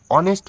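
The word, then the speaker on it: honest: ওয়ান rupee note ঠিক আছে দেখো পরেরটা দেখো অনেস্ট ম্যান ঠিক আছে এইচ ও এনই এসটি অনেস্ট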